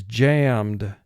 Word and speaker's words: jammed: the video screen jammed now we know it's a one syllable word because we only have one vowel sound represented by the a e d does not break off and create a second syllable because it's not preceded immediately by d or t and that's the only